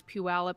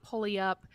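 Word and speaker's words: Puyallup: the Pacific Northwest okay you pronounce the town from where these kids are from as peup some might say peup which peup is okay but it's peup it's not pulley up it's not pup it's a weird looking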